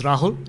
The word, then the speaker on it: Rahul: you for fascinating presentation my name is Rahul it rhymes with Yahoo easy to remember uh uh I'm a